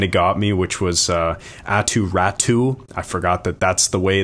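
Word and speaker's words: Aatu Räty: There were a few that kind of got me, which was Atu Ratu. I forgot that's the way that he likes his name pronounced, apparently.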